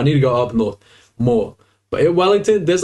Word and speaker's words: moa: bird right here this one here is a mo if you didn't know uh MOA is like a lawn mod you know you cut the grass with that's the pronunciation of the the word MOA but this